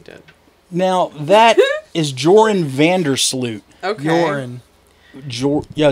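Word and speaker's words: Joran van der Sloot: now that is Jordan vandersloot yo is that how you pronounce it like urine like urine yeah well that's honestly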